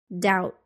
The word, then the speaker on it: doubt: consonant sounds listen and repeat the silent be doubt debt the silent c muscle Connecticut the silent